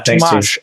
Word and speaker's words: Tomasz: Tomasz with an SH at the end. Yeah, Tomasz. I knew I was doing it wrong, and my dyslexia is going crazy. Tomasz with the SH on.